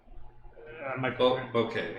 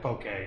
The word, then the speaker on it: bokeh: Bouquet, yeah. Bokeh, yeah. Oh, bouquet. I always called it a bokeh. I guess I'm pronouncing it wrong.